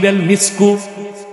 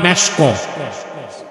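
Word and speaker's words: مسك: আলাইহি ওয়াসাল্লাম এরশাদ করেছেন মিসকু সবচেয়ে দামি মূল্যবান সুগন্ধির নাম মিস্ক যেটাকে আপনারা ভুল বলেন মেশক উচ্চারণটা কি মিসক এটা মৃগ নাভি থেকে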